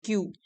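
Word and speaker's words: queue: कतार मींस लंबी लाइन उसको स्पेलिंग ऐसे लिखते हैं क्यू यू ई यू ई और कहते हैं क्यू आरम ने अपने आप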